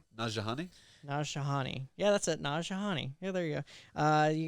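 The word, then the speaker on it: Nanjiani: he's a famous Indian comedian / actor, Kamali Najani. He is going to play, and I butchered it, I don't care, the cosmic powered Kingo.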